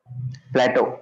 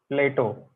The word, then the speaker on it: Plato: everybody philosopher huh yes Plateau Plateau Greek philosopher Plateau Plato Plato Plato yeah yeah PL this is plateau like that in plate this is Plato like the philosopher okay okay I'm shouldn't